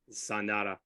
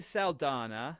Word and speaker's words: Saldana: for zendetta for sure Sandara I just said that her name wrong wow Zoe Saldana Saldana thank you okay she's in it